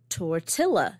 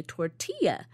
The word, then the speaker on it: tortilla: the effect of um you don't say uh tortilla you say tortilla and in that word it's the Double L and I'm saying all